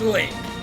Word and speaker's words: Link: My name is Link. It rhymes with drink.